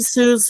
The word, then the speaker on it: Suze: Not Susie, Suze. Suze, but it's spelled. No, Those who are Suze. listening. Her real, well, yeah, like I said, my wife's name is Suzanne, but she usually likes to go by Suze, S-U-Z-E, so it's Mikey Suze 4.